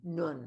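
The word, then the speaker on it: נון: So there it is, a final nun, like spelled like a nun, like in English, and UN, but it's nun, like a UN, nun.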